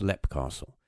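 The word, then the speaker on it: Leap Castle: But you could write it as Leap, but they pronounce it as, I'm pretty sure they pronounce it as Lep Castle.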